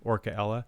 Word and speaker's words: Orcaella: Yeah, it's a hard C. Orcaella.